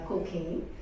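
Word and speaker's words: Cockayne: to spell it because the pronunciation is uh cocaine so it's c c k a y n e and uh it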